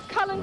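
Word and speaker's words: Culzean: Cullen Castle, west of where we are. There you are. That's spelled C-U-L-Z-E-A-N. With a Z in the middle.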